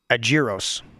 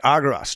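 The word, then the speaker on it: ἄργυρος: Agiros, okay? Here, we'll make him say it. Strong's G 696. Argyros. I knew I wasn't saying it right. Okay, Argyros.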